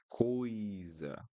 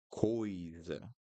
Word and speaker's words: coisa: Other thing that is important in Portuguese, guys, when you have two vowels or three vowels in a word, you need to pronounce each one. So coisa, coisa.